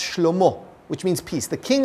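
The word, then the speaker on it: שלמה: His son, Solomon, which in Hebrew is pronounced Shlomo, which means peace.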